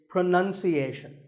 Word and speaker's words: pronunciation: pronounce pronounced and pronouncing but pronunciation there's no noun in this word it's pronunciation word number two is